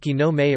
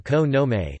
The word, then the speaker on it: 木の芽: teriyaki or fried chicken young leaves and shoots pronounced genome a or kono may you know y'all it tree bud Herald the